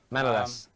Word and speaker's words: Manolas: how do you pronounce it? Manolas? Yep, Manolas.